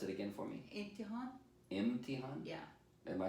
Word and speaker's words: Emtahen: Emtahen. How would you spell it in English?